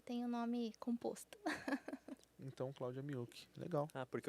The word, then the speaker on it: Miyuki: Como que pronuncia o seu nome? Meu nome completo? É. Cláudia Miyuki.